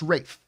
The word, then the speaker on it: Ralph: academy award i think that's ray fines is ralph fans it's pronounced rafe oh race yes i know it's it's spelt